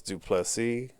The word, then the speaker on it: du Plessis: was Darren till versus du plessis the S is silent at the end get